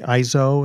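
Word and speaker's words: EIZO: And I have the Apple Tower, the black tower and the ISO, is that how you say it?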